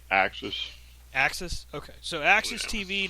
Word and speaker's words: AXS TV: I think they call it Axis.